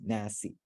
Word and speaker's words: nas: Yeah, in there nas. is an E there, yeah. When you So- pronounce it, you just stopped at the S, I think.